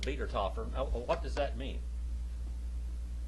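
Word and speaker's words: Wiedertäufer: But it's pronounced Wiedertoffer.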